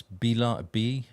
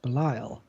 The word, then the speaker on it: Belial: So Ambush, it's Bial, I guess that is. Oh, Belial. Belial, is that how you pronounce it? Yes, Belial.